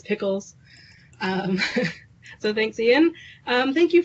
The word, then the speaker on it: Pickles: would say it wrong it is pickles so thanks Ian thank